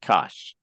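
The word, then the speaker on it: cosh: do you say that not sin H not C cosine H say them two two ways of saying them anybody remember how to say them hyperbolic uh sign yes okaya thank you it's a hyperbolic sign or the hyperbolic cosine or you could say cinch and Kos but you don't say s h cosine H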